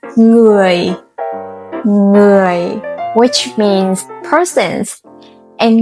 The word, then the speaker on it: người: One mistake learners often make is replacing the NG sound with a hard G sound, like người, người. But it's not correct. The sound needs to be soft and nasal, like the end of sing, sing.